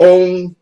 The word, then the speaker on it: OUN: We need our own damn party. Call it the Organized Unified National Party. The OUN. Pronounce OUN. What's that spell? OUN. Pronounce that. Own. Our own. Own.